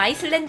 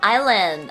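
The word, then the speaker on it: island: 섬 섬 섬 섬 S 발음 안 하셔야 돼요 슬랜 아니야 아이슬랜드 아니고 아일랜 아일랜 다음 할게요 갑작스러운 공격을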